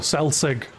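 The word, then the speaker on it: selsig: Is it actually pronounced like that? Sig like no cell sig. Ah like s cell sig. Like cell from Dragon Ball Z and then sig like cigarette.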